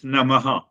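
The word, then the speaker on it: Namaḥ: There are two syllables, Namaha.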